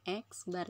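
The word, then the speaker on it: x̄: X bar, kalau ada tanda garis di atas dibacanya X bar ya.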